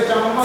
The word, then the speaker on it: चम्मच: जैसे चम्मच है, चम्मच, इसको बोलते हैं सम्मस।